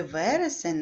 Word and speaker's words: вересень: запишіть правильну слово вересень в слові вересень наголошений перший склад в вересень поставте наголос